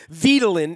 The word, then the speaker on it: Vitelin: I called it Vitelin. I didn't know how to pronounce it because I guess it's like Ritalin. I was sort of rhyming. Vitelin is how it's pronounced.